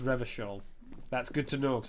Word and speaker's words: Revachol: Revachol. It's pronounced Revachol.